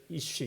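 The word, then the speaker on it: איש: 21번째 쉰 단어, 그래가지고 남자를 이쉬 이렇게 읽습니다. 이쉬. 우리나라로 이야기하면 이응 시온만 있는 거죠. 이응 시온만 있는 거예요.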